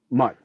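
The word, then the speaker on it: Mundt: And then Jonathan Jones, Mutt was it Mute or Mutt? Mutt, I forget how you say his name. Johnny, the tight end. Any month. Mutt, that's right.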